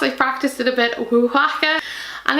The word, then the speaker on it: Oaxaca: And this is, oh god, here goes pronunciation, Oaxaca. It's written on the back of the box, I practiced it a bit, Oaxaca.